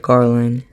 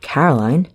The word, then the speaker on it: Coraline: They kept saying Coraline. Not Caroline. Not Caroline at all."